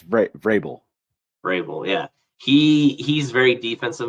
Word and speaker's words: Vrabel: Vrabel, I can never pronounce his last name. The coach for the Titans. Grable. Grable. Oh, okay. I thought it was Vrabel or something with a V. Oh yeah, it's Vrabel.